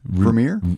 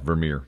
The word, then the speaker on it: Vermeer: Vermeer? That's right. Is that right? Yeah, Vermeer. That's exactly right. I looked at Johan. Dutch? Johan Vermeer.